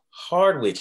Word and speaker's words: Hardwich: And we will move on to our next panelist, which is Hardwich. Now, am I pronouncing that right? You got to help me out. Hardwich. The W sound.